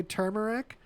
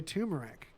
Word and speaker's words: turmeric: that do you say turmeric or do you say tumeric because apparently although it's spelled turmeric both pronunciations are correct right yeah I love